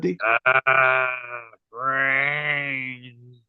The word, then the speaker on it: Brainz: r a i n z how do you pronounce that D brains that's it that's how you pronounce it uh